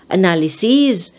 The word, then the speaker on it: analyses: like stimulus stimuli analysis ending in sis becomes ses and you have to pronounce it as they so you have analysis analyses crisis crisis osmosis osmosis